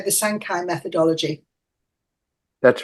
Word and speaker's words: Sancai: So our next presentation is, Howard, am I pronouncing it right when I say the Sancai Methodology?